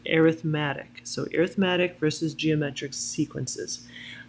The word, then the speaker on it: arithmetic: we're going to identify arithmetic and geometric sequences I realized this word looks like arithmetic it's not when we're talking about sequences in series we pronounce it arithmatic so arithmetic versus geometric